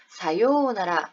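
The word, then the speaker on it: さようなら: 발음한다 자음으로 발음한다 그래서 4 유우 나라가 아니라 사요나라 하고요 를 길게 발음해 주는 장은 이 되었다 자 센세 사요나라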